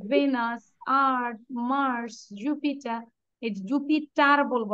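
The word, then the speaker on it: Jupiter: Mercury, venous, আর্থ, Mars, জুপিটার, এই জুপিটার বলবো না, আর এর উচ্চারণ করব না।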